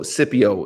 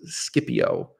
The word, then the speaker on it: Scipio: past maximus scipio so scipio is how we pronounce energy obviously this scipio if you know the letter c was never pronounced as a soft see any john anyway